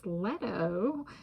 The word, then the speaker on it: Leto: You know, if depending on, and like, and then, you know, if some people pronounce the letter E as like an A sound, then it's Leto. So I'm like, also like Plato, so it's like, all right, just be tolerant of different pronunciations.